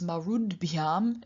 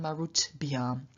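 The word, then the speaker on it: marudbhyām: And then we have marut plus bhyam, and because bhyam begins with a voiced consonant, b, the T at the end of marut then also becomes voiced, because marud bhyam is a lot easier to pronounce than marut bhyam.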